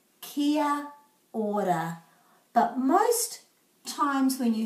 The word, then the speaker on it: kia ora: a e o and we put a break after every vowel so this is kiya ora kia ora kia ora but most times when